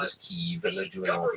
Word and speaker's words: Kyiv: They have their Ukrainian flags, and they're willing to pronounce Kiev as Kyiv, and they're doing all the steps that you need to do.